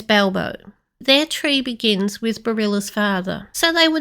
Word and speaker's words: Berilla: It might be Berilla, the stem being beryl, but when I looked at other names like that, such as Corolla, the pronunciation changes with the ending, so I have decided to call her Barilla. That doesn't mean this is correct. It just seems to be the pronunciation that most closely follows rules of English.